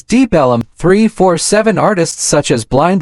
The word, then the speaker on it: Deep Ellum: The name Deep Ellum comes from local people pronouncing Deep Elm as Deep Ellum.